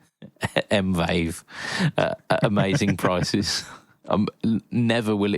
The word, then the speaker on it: Mvave: Um affordable brings you pedals from Demon Effects, JSAX, Musky, Joyo, 4D, Kaline, Nox, Mal Cord, and Mave Mvave. Amazing prices. Um, never will it be pronounced not like microwave.